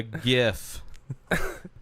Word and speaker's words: GIF: it's actually gif that's anybody that says jiff for anything and not talking about peanut butter they're wrong it's the only thing